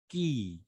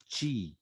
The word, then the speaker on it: chi: Now, when we come to the pronunciation of this, why do we call it ki? Why don't we say chi?